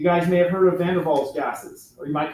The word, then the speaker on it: Van der Waals: You guys may have heard of Van der Waals gases, or you might call them Van der Waals gases, because we're America and we pronounce our W's whoop, right?